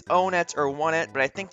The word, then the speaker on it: Onett: Now, a lot of people refer to the city as Onett just because that's how it looks like it would be pronounced. I think that it might actually be Onett because a lot of the cities in this game are named after numbers.